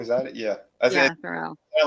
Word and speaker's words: Theroux: I don't know how to pronounce it. So forgettable. Justin Theroux. Theroux, is that it? Yeah, Theroux.